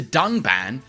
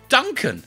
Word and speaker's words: Dunban: disagree with and then calls the character dunban Duncan this time however they did edit out the mistake but even in the re-edit he still pronounces the name wrong with the horrendous drop